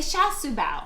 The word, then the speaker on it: char siu bao: No, Sha Su Bao.